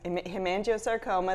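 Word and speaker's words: hemangiosarcoma: I'm saying it wrong the himo research initiative himango saroma yes himango saroma that's a a tough word um for a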